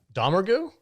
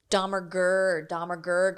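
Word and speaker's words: Domergue: they changed the pronunciation of their last name halfway through the movie? Domergu? Domergu, and then when she says it, she says Domergurg or something.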